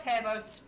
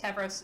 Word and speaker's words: Tavros: happen sooner mm-hmm uh reya tabos tavros sorry i pronounced the name wrong will come chum up